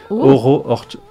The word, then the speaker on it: Oro Orchard: Oro Orchard. Orchard, en français, prononcé à la française. Ça veut dire le verger. Orchard, c'est le verger en anglais. Mmh. Et Oro, comme Auroville, comme Sri Aurobindo, ouais.